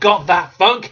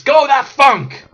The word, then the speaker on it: Gothatfunk: he is not goth it's not goth that funk it's go that funk and I still don't